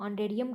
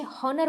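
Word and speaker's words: honorarium: और कई इसे हॉनर बोलते हैं, हो है नहीं बोले जाएगा इसे, औ से इसे स्टार्ट करते हैं, है इसमें साइलेंट रहता है, अगर कोई बोलता है that is नॉट the well in English.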